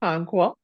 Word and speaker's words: Okonkwo: trying and you were very close it's OK conqua conqua thank you very much yes you're very